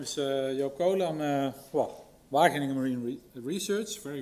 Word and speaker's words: Joop Coolen: So, my name is Yokola. I'm welling Marine Research. Very well pronounced for a non-Dutch speaker.